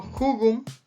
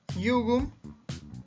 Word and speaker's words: jugum: Nosotros leeríamos en castellano jugum, jugum, pero en realidad en el latín se va a pronunciar jugum, ¿verdad? Así con I latina o con doble L, jugum, ¿ok?